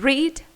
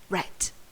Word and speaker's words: read: in past participle read it's got the same form read but it is pronounced in a different way read so the infinitive is read and the past participle is read make becomes mate sink